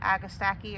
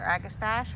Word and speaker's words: Agastache: This is my Agastaki or Agastache, however you prefer to pronounce it.